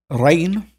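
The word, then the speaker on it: regn: uh we see that it was rain in Old English which sounds exactly like rain rain it's exactly like Modern English rain um and so hopefully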